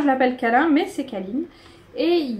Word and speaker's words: Kalin: Alors, la marque, c'est Kalin. Qui se prononce Kaline. Me demandez pas pourquoi. Ils appellent ça Kaline. Moi, j'ai toujours dit Kalin et j'ai du mal à dire autre chose parce que regardez, il